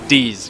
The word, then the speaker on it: dix: 10 in French is D's, which is spelled DIX.